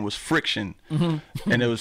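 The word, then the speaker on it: Phrikshun: Oh, and then my original DJ name was Friction. Mm-hmm. And it was spelled like P-H-R-I-K-S-H-U-N, mm-hmm.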